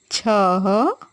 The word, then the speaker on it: छः: जब हम अह की मात्रा लगाते हैं ना बच्चों, तो उसका उच्चारण ह की तरह होता है। प्रातः, छः, नमः, श्वतः, प्रातः, फलतः।